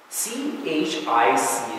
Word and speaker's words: chic: CHIC is, you know, like that French word that's like fashionable? How do you pronounce that? Chic, right?